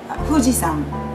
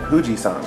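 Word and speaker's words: 富士: what do you say huji once more Hui right huji hu s right but we pronounce it with an F in English yeah fujian fujian okay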